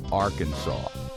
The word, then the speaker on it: Arkansas: according to state law the name should be pronounced Arkansas and any deviation from